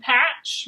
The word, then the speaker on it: patch: Then ch and patch. Remember, this one's tricky because the T is silent. So ch and patch.